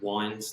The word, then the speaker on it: Wynes: My name is at Wines. That's spelled Wynes.